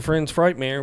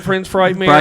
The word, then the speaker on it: Prince Frightmare: we'll we'll get that you said it wrong again I said that's chocol CH I'm changing the name that's it's friends Frightmare to me chocol FR chance just said it right right before that it's Prince FR night Prince Frightmare all the Fright nightmare